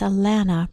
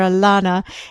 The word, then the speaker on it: Allana: tiny intro here because I was mispronouncing her name the entire interview, and I just wanted to set the record straight here and start it out right. It's Allana Pratt. I was calling her Allana, and she is such